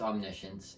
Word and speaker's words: omniscience: I spell it on the science but it's pronounced omniscience and what it means is that God knows